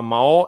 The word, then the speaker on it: Mahó: I un dels elements que són més molestos per la pronúncia és tenir dues vocals juntes que van en síl·labes diferents, el que es diu un llat, que és el cas de Mahó.